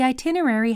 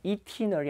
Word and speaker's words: itinerary: 발음이 E 아닙니다. itinerary 아닙니다. itinerary거든요. 근데 영국 사람들 중에서는 여기 발음을 안 하는 사람도 있어요. 그래서 그냥 itinerary 이렇게 읽는 사람도 있고요. itinerary 이 발음이 둘 다 돼요. 예, itinerary 두 가지 다 됩니다.